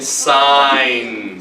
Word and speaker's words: sign: G is silent as well. Do we say No, we say Okay? KN like in not. And GN like in sign.